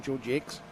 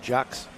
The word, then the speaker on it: Georgie X: off at the um Georgie X all right okay that's the pronunciation George X not Jax okay it's spelled in the French weather I know Brian Jacks